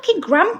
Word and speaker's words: Graham: them gram crackers like like let's not get started on this thread because you will not win how do you pronounce Graham gram like Graham Norton yeah yeah Graham would